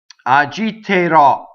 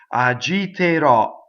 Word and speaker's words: agiterò: So notice we usually will open the E before the R and it's closed because the accent is on the last syllable and all unstressed. E's and O's are closed. Agiterò.